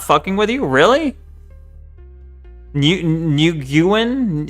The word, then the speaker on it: Nguyen: Nguyen is pronounced Win? Nguyen? I don't know. Just Win.